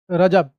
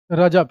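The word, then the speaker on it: رجب: महीना उर्दू कैलेंडर का सातवां महीना क्या है रजब उर्दू कैलेंडर का सातवां महीना इसको क्या बोलेंगे हम लोग रजब क्या बोलेंगे जी रजब क्या पढ़ेंगे रजब ठीक है इसके बाद आगे है उर्दू कैलेंडर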